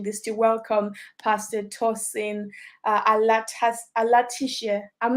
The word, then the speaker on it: Alatise: From Zimbabwe would actually say Alatise. Oh, so The SE is a se, not a share.